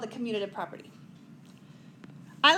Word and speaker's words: commutative: the next one is commutative I've I've gotten some interesting answers for this people say communitive community like it's it's interesting so this is the